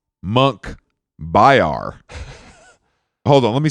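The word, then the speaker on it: Munkhbayar: driver rating top driver his name Monkey Bar no monk byar hold on let me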